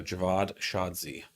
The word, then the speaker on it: Javad Shadzi: I realize a lot of people don't know how to say my name after this weekend. So Javad Shadzi. That's how you say it.